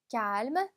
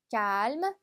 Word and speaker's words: calme: 자, 조용하다라고 하는 표현은요, calme, calme. 자, 그래서 cal까지 발음했다가 뒤에 m를 붙여주시면 됩니다. calm이 아니라 calme가 발음해주시면 돼요.